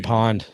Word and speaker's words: pwned: Have I been pawned? Yeah. Pawned? Yeah. Pawned. Is that how you pronounce it? Yeah.